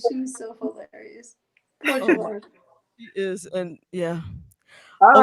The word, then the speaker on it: JaVonne: It's actually JaVonne, but you could say it however you like. I did. I said JaVonne.